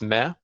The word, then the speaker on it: me: It's M-E, but it's pronounced Meh.